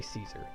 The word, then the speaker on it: Caesar: I say Caesar, because I was raised in the United States, in the Midwest. C-A-E-S-A-R. And I think that's the common pronunciation in these here parts. Yeah, yeah. And then the pronunciation in other parts of the world are a little different.